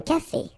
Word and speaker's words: café: Okay, remember accent aigu here. Un café. Un café.